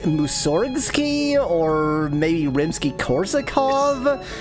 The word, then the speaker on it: Mussorgsky: The stress is on the first syllable. It's Mussorgsky. That sounds so Russian that I instantly yes. Mussorgsky.